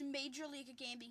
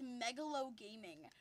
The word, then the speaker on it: Major League Gaming: Oh, by the way, Ben, Connor refuses to believe me that it's Major League Gaming. He thinks it's Megalo Gaming.